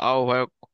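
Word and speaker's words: আহ্বায়ক: বলবে আহ্বান করছি আহবায়ক ওরা সব ভুল বলে ঠিক আছে তোমরা হচ্ছে নতুন দেশের নেতা হবা তোমরা সঠিক উচ্চারণ করবা আহবায়ক তারপর বলবা যে আহ্বান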